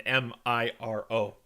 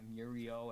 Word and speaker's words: Miro: his name that black bar turns into an m-i-r-o oh his name is miro yeah i was always pronouncing it here we go super mario yeah muriel and muriel um rodney why don't you give